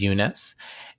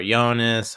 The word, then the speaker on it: Yunus: People didn't really know how to pronounce my name. They would say Yunus or Jonas or Giannis.